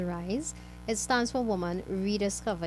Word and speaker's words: WRYS: NGO is called RISE, WRYS, pronounced as RISE.